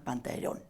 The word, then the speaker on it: Pantaleón: nombre de pantalón originalmente el personaje se llama pantaleón pantaleón pero pronunciado a la veneciana pantalón entonces la e desaparece usa un vestuario comiquísimo